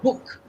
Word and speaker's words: book: Don't again don't don't be uh fooled by the spelling, right? It has double O. I know double O is also used to indicate longer oo sounds in certain other words but here it is a short oo sounds right.